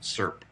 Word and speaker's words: SIRP: Best practices call for financial sector entities to maintain and test a security incident response plan, or SIRP, doubtless to be pronounced SIRP.